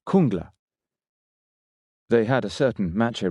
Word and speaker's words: Jungla: Luke remembered being told by someone on an earlier visit, "It's pronounced Kungla."